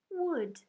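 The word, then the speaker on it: would: Today's special red word is wood. Listen. Wood. Say it. Wood. Spell it.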